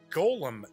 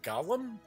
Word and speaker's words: Golem: And yes, it is Century Golem Edition. I always thought it's pronounced Gollum, but if I say that, then everybody starts thinking Lord of the Rings. So I think I'll stick to just Golem.